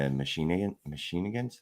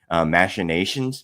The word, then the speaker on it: machinations: I don't really understand the machinians. That's not the word. Absolutely. Machinations. There you go. That's how you say it.